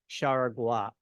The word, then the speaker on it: Jaragua: Okay, when I looked online, I saw people calling it Haragua. I talked to a friend who's Portuguese from Brazil, and she said it's Charagua.